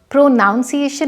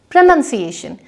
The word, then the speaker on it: pronunciation: प्रोनाउंसिएशन नहीं, प्रोनंसिएशन, यानी कि शब्दों का सही उच्चारण।